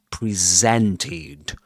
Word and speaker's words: presented: He says presented. Presented. He doesn't say present. Presented. Presented. That Z sound. You know, in presented. That's the way you pronounce that word presented in a story.